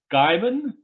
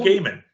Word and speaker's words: Gaiman: I have the uh Gaiman Gaiman I thought it was gaming I I you know